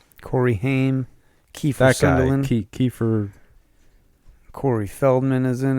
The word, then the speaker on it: Sutherland: Yeah, from what I remember, Kiefer Sunderland. How do you say it? Oh, you can get a 4K Sutherland. version of it now. Sutherland.